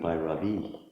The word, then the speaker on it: Bhairavi: do you inflect that I like Bhairavi, or is it Bhairavi? Bhairavi. So all smooth until the end.